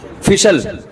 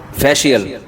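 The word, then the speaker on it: facial: फिशल फिशल फिशल फैशल अबे सही pronunciation बुलवाया करो। फिशल ना फैशल ये अमेरिका से आए हैं। सही बताएंगे। जी फेशियल यह अमेरिका से आए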